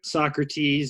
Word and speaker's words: SAWCRUHTEEZ: I'm on trading view Socrates is spelled kinda how it sounds s.a.w see our UHT